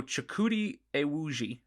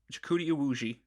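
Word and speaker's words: Chukwudi Iwuji: diligence this week and he found the correct pronunciation for the actor's name and i'm going to do my best here to give credit for the guy finally after seven episodes so chikudi iwuji um jakuti iwuji uh hopefully i'm not butchering that horribly but that he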